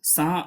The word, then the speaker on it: sans: इसे लोग सैंज पढ़ते हैं, बट you have to pronounce सा।